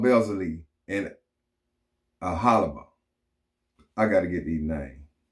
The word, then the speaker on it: Aholiab: It's generally said as a holy Aholiab. on how to pronounce more confusing words and names too many mispronounced.